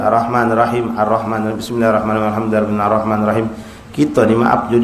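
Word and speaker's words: الرحمن الرحيم: Ah, shadda pada "ra." Jangan dilewatkan, kan? Arrahmanirrahim.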